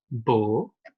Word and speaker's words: beau: Beau. Beauté.